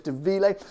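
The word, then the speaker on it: Dà Mhìle: i think it's called although it's spelt like demul it's de ville that was a savoury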